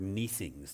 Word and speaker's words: neesings: How many of you have used the word neesings today? I didn't think so. It's an obsolete pronunciation and spelling of sneezings.